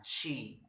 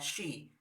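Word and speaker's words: she: tunggal itu dia perempuan si Oke ingat ya pengucapannya sih bukan sih kalau si artinya melihat sedangkan fight Dia perempuan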